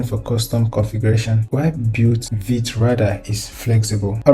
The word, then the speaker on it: Vite: So how do we get started in VIT?